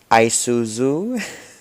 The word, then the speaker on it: Isuzu: Isuzu.